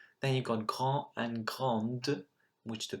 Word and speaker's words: grande: Then you've got grand and grande, which the pronunciation again changes.